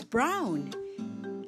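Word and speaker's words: braun: Brown in German, it's brown, spelled B-R-A-U-N.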